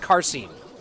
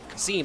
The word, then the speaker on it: Qasim: It's pronounced Qasim. There's no R. Qasim, I can just say Qasim.